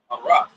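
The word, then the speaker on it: חָרַשׁ: How you say it in the Hebrew is haras, right? Haras. That's how you say it in the Syrian Hebrew. How would you say that? Haras? Huh? All right. Because it's an A with the line on it.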